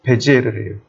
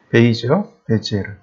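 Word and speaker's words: Bézier: 그거를 적용한게 르노 자동차예요 영국 미국식 발음입니다 프랑스식 발음으로 베지에르래요 프랑스식 발음으로 베지에르 베이지요 똑같은 사람이랍니다 근데이 사람이 만든 곡선이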